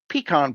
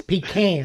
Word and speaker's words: pecan: And then when it comes to desserts, apple pie, the wildcard, bacon, bourbon brownies, cherry pie, peacon pie, and pumpkin pie, the classic. Um, you mispronounced something. It's pecan.